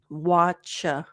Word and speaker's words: watch: you all right watch the t is silent it's just a CH watch let's watch a movie